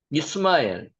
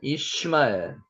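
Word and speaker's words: ישמעאל: 이스마엘. 실제 발음은 이시마엘입니다. 이시마엘.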